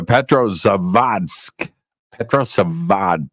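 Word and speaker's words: Petrozavodsk: uh correctly uh the prro sad pad you got to get the D the D needs to be pronounced vat phenomenon was a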